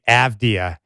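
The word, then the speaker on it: Avdija: And for the Blazers right now, I just go back to what Denny Avdia, or should I say Avdia, how many people do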